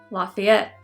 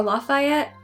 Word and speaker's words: Lafayette: of, you guessed it, Lafayette. Or Lafayette, we pronounce it differently down here.